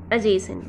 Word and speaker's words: adjacent: next word is adjacent adjacent while pronouncing it d letter will be silent uh it will be pronounced like adjacent okay adjacent is just